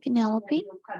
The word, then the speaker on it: Penelope: Their names were Afonso, Carl, Isona, Jones, Carl, Linus, Metsulat, Nemo, Penelope, rhymes with envelope, and the name vicious crazed animals.